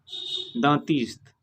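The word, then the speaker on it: dentiste: Next example डेंटिस्ट, इसको इस तरह से प्रोनाउंसिएशन करेंगे दांतिस्त।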